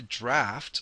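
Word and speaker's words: draught: actually two different types you can see the draft of a vessel and you can see here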